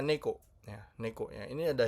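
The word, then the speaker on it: 猫: Nah, ini adalah kanji kucing ya, bacanya neko ya.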